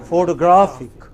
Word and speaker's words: photographic: photographic. So 3 different kinds of stress on basically the same related word.